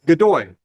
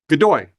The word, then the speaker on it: Godoy: Godoy. Godoy. To rhyme with joy.